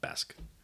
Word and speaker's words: Besk: But you can also call it Besk, because Bask is just an older way of spelling Besk.